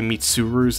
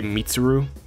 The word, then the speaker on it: Mitsuru: I realize that I say Mitsuru's name weird. I kind of say it too quickly. I say Mitsuru. I'll try to say Mitsuru instead, because that's more accurate to how the dub pronounces it.